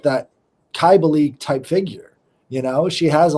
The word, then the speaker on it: Cybele: I didn't know how to pronounce Kybali before you said it, to be honest. I thought it was Sybil. There's so many different ways.